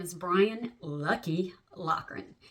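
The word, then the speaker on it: Loughran: His name is Brian Lucky Lockan. I think it's L O U G H R A N, but I think they pronounced it Lan.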